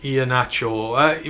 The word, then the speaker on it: Iheanacho: Iheanacho is generally pronounced Iheanacho. We had a football player named... It is Iheanacho. I believe it's this way. We had a football over here, Kalichi Iheanacho. That's how we pronounced his name, so I'm pronouncing it the same there.